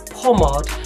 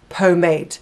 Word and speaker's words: pomade: talked about the Morgan's hair grease and I pronounced it as Pomade but a few of you you pointed out and wanted to let me know that it's not pronounced pomad it's pronounced Pomade so just so there's no confusion I have